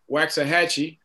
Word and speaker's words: Waxahachie: We got Dickinson and Jersey Village, North Shore, Cy Woods, For the life of me, I'm always going to pronounce it Waxahachie. Is that right, Blue? That's where I pronounce it.